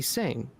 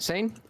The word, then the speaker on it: Seine: side of the road, you will see the Seine, which is the river. Did I say that right? Seine?